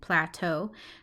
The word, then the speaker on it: plateau: allegheny and this word pull a toh Plateau I used those to